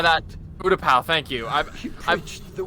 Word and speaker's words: Utapau: I don't think he died on Utapu in episode 3. Utapu. Utapau. I don't know how that... Utapau, thank you.